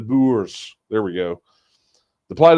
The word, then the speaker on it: Boers: The plight of the Boore farmers has been going on for years." Hang on, let me try to say it like Jack. The Boers.